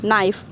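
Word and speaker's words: knife: कैट pen, book, नाइफ। नाइफ में है ना के साइलेंट है। एन आई एफ ई नाइफ। प्रोनंस pronunciation में एन आई एफ ई नाइफ कर रहे हैं और आगे के लगा रहे हैं ना।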